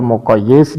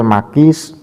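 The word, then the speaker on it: مقيس: nahwiah dan sfiahnya seingga dibaca hukmul muqayyis dan muqayyis Aleh padahal bacanya bukan seperti itu yang namanya qias musawi ya kias musawi itu adalah wahua tasawi hukmil Makis Wal Makis alai jadi di antara aladilah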